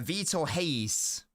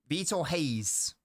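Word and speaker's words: Vitor Reis: I pronounce his name the internet seems to suggest it's vtor hes or hies I wrote it down I wrote down the phonetics what was it what was it uh VTO Hayes VTO Hayes I that's what I've said in the video is that right let me know okay grace I've pronounced it correctly I'm a very happy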